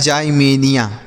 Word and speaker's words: Ximenia: XI से पढ़ेंगे जाई, हम इसे पढ़ेंगे में, और NIA से पढ़ेंगे निया। तो लिखा है जाइमेनिया। क्या लिखा गया है बच्चों? जाइमेनिया।